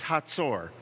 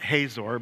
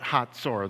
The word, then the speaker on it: Hazor: cities we pronounce this hator not hazor but hator the Z is kind of like in Pizza yeah it's a t sound hator megiddo you may